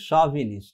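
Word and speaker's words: chauvinist: শভিনিস্ট, এটা উচ্চারণটা কিন্তু শভিনিস্ট, ঠিক আছে, শভিনিস্ট, ঠিক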